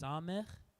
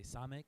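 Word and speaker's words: ס: So that's pronounced samech. Most people just say samek is how most people pronounce it.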